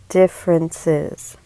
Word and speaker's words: differences: on the assumption that the word differences is pronounced as three syllables which is one of the correct ways of pronouncing it differences and thus it is